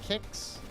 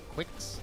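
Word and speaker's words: Qix: reminds me of um kicks is that how you say it you know the puzzle game from the Game Boy that's q i x I think it's kicks not Quicks I think it's kicks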